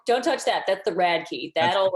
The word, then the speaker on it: Radtke: walking down the street you see a key and you're like that is a rad key like a hotkey like on a video game like don't don't touch that that's the rad key that'll like get all